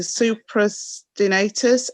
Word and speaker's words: supraspinatus: You'll have to forgive me because I'm not sure if I'm going to pronounce these correctly, but it's a supraspinatus and the infraspinatus on the top of the shoulder on the ridge.